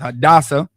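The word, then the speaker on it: Hadassah: in the Bible but her Hebrew name is pronounced hadasa and she did something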